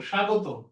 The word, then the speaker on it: স্বাগত: হ্যাঁ স্যার আপনি class nine আচ্ছা পরে এটা ফাইভ শেষ হলে ওকে ফাইন স্বাগত তাহলে কি হবে সা গো তো স্বাগত স্বাগত ফাইন বফলার দুই নাম্বার নিয়ম শব্দের মাঝে